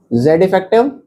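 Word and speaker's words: Z_eff: तो इसे Z इफेक्टिव बोल देते हैं, मैं लिख देता हूं क्या बोलते हैं इसे, Z इफेक्टिव ऐसे प्रोनाउंस करते हैं, जेड इफेक्टिव, और इसको जेफ भी बोल देते हैं।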